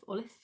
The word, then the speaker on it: Olaf: They have such a fan base, and little kids just adore Olaf. That is how you pronounce it, Olaf.